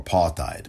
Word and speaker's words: apartheid: Apartheid or apartheid, but apartheid is the proper pronunciation.